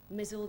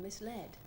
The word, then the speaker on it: misled: how to pronounce everything mizzled i used to say which sounded so much more interesting than misled and all bait was